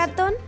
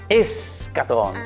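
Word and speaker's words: eschaton: ¿Acatón? Escatón, escatón.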